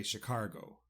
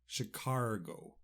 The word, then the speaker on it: Chicago: a g o and for some reason in Ireland we like to say Chicago chicargo I do believe the